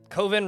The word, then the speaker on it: coven: Coven rhymes with oven.